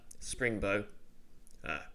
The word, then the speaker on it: Springbrook: as I said, the town of Springbow. It's spelled Springbrook. Long story. Basically, it used to be pronounced that way, but linguistic drift and people. Right. For a while, there was a lot of illiteracy, and people just the pronunciation drifted, but the spelling stayed the same.